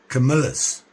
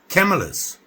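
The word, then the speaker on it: Camillus: Camilas, right? No. Camelas. Camilas. I'll get it right. People keep telling me how to pronounce it and I forget. So, Camelas.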